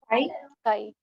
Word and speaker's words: chi: What is the pronunciation for this letter? Chi. Chi. And it is written as CHI. Okay, pronounced as chi.